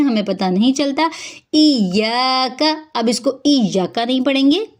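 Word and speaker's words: إياك: इयाका नहीं बल्कि इयाका।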